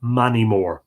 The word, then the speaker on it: Moneymore: Money, M-O-N-A-I-G-H, and M-O-R for big, pronounced by the people Manimore.